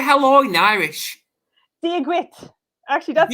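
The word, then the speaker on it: Dia dhuit: Diagwit. Actually, that's Diagwit.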